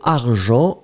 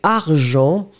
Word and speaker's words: argent: Et donc, argent, eh bien, phonétiquement, vous allez mettre Jean en première position. On ne prononce pas le T.